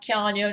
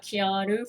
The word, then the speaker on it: Keanu: dummy by the way the name is pronounced keanu not keanu from keanu reads himself